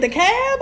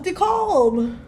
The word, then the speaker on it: DeKalb: or better known as dekalb county which is just that's how you say it the cab i thought it was the cold oh you from up